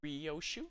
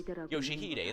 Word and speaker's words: Yoshihide: Ryoshu? 아니. No, that's not how you read those letters. Yoshihide, that's how you say it.